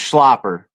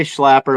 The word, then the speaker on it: Schlapper: I mean, it was like, and it's pronounced Schlapper, but a lot of people say Schlapper.